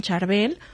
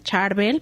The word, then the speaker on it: Charbel: Bueno, el día de hoy seguiremos los pasos de San Charbel o San Charvel, porque escuchamos las dos pronunciaciones.